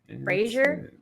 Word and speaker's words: brazier: Brazier? Why are you talking about bras? You don't know. I always had trouble pronouncing it.